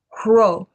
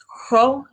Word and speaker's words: rho: This is Hro. Hro is an R. It's an R, it's a breathy R, basically. Hro. Not everyone puts that much effort into pronouncing it. So if you don't, it's totally fine. Regular R sound works just as well.